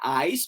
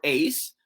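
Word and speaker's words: εἰς: may word equivalent na ice or Ace sa mga modern na nagsasalita ang Greek word niya ay ice or Noong mga panahon namin naman ay Ace either way Paano natin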